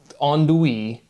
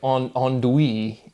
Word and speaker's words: andouille: take a word like andouille, and it's just like that pronunciation, it makes sense, right? You get the on, do, e, but it's like, why is the l off?